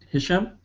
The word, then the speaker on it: Hisham: All right, and then we will go to our first of two guests today, Hisham. Did I pronounce that correctly?